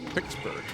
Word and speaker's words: Pittsburgh: Greg is from collected all Pittsburgh. Pixsburg, as I'm told, is pronounced by people in Pittsburgh.